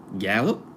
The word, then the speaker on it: Gallup: Gallup?